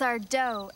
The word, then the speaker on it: Sardo: black was powerful and Sardo was a fake that's our doe accent on the DOE great story here's why